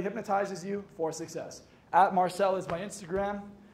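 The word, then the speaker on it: Marccelo: you for Success at Marcel is my Instagram m-a-r-c-c-e-l-o pronounced Marcel not Martel so it's Marcel if you say my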